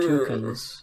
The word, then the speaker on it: toucan: Who's a fucking in England we call them toucans. Really? Yeah, we don't pronounce the A, toucan.